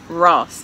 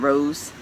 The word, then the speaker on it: Ross: Ross, not Rose.